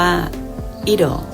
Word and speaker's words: it'll: ยัง ไง อี ดอก พยัญชนะ ที กลาย เป็น เสียง ดี และ เรา ออก เสียง คำ ฉัน รัก ฉัน เป็น 2 พยางค์ เรา ไป ฟัง ตัว